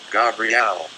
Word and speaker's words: Gabriel: Say, behind me, and then vibrate, Gabriel, pronounced Gabriel.